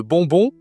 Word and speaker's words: bonbon: Toujours le Nasal, on utilise beaucoup, tu vois, c'est très utile dans la dans la nourriture de connaître les nasales parce qu'on a mangue durian et ici le on bonbon.